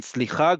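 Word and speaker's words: סליחה: And then slicha goes up at the top, like you're asking a question. Slicha, okay.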